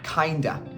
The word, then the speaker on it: kind of: You'll hear that a lot, and they're pronounced as kinda, sorta. So instead of saying I'm tired, you could say I'm kinda tired.